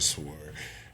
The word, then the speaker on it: sword: You're like, why do you do that? Is it sword or sword? For real? You pronounce it as just sword. It just got a W in there.